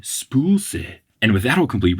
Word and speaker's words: spøgelse: the Danish word for ghost, and it is spøgelse. But it's spelled S-P-O, the line through it, G-E-L-S-E, but it is said spøgelse.